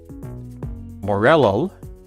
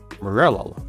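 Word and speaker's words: Morelull: See, I know that morel is a type of mushroom, so that's why I'm pronouncing it Morello, but that is not easy to say.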